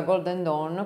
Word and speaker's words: Golden Dawn: che faceva parte della Golden Don o Golden down come preferite che non sto ricordando Chi esattamente era appunto la volontà per chi non lo sapesse la Golden Dawn come credo che si pronunci in inglese correttamente era questa società segreta